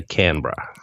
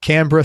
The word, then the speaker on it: Canberra: thank you capital brilliant the Australians say Canberra Canberra he grew up in